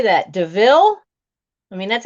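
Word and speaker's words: Deauville: that loop now how do you say that deville i mean that's how you say when it's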